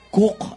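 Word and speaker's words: Coke: Hanapin nyo, ang spelling ng Cook. Huwag nyo nang tanong kung sino nag-cook. Pero Sir Edward Cook ang pag-pronounce niyan.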